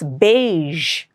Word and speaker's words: beige: It's not beige, it's beige. There's a ja sound there.